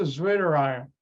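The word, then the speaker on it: zwitterion: right it's winter iron because my German language background you pronounce a w like a V and that's a zwitter iron and this part is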